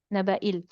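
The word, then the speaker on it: نبإي: द या is silent, ठीक है? इट is there in writing but इट्स not pronounced, not read. therefore we read as naba'il, जैसे ये था, ठीक है ये.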